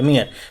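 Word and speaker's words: mere: इसको पढ़ते क्या है, मियर पढ़ते हैं। अगर इंग्लिश में लिखा जाए तो MEER इसकी प्रोनाउंसिएशन निकल के आती है, मियर।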